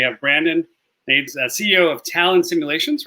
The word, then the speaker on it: Talon Simulations: We have Brandon Nates, CEO of Talon Simulations, right? Did I pronounce that correctly?